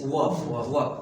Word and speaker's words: verb: The correct pronunciation is वर्ब। You should try टू नॉट are letter here वर्ब।